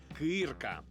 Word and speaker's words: кирка: виходить ми разом помиляємося адже наголос тут на звук и кирка і на моє приємне